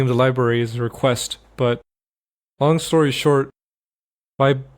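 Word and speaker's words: reqwest: a request made with request. r e q w e s t request, that's how the library is spelled.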